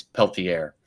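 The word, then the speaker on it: Pelletier: It's peltier.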